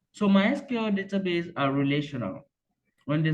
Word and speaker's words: MySQL: So officially, MySQL is pronounced MySQL, not MySQL.